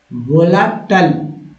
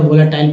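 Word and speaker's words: volatile: Delectable, Anandkar, सुस्वादु, वोलाटल, लेकिन लोग टाइल पढ़ देंगे क्योंकि गलत उच्चारण करेंगे। टाइल नहीं पढ़ना है, वोलाटल एडजेक्टिव वर्ड है, अंग्रेजों की तरह पढ़ना है। ऐसे तो आप इंडियन मतलब जो इंडिया में जो लोग पढ़ते हैं वोलाटाइल पढ़ देते हैं, तो वोलाटाइल नहीं, वोलाटल।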